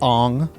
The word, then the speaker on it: Aang: They said Aang. No, it's not Aang. It's Ong.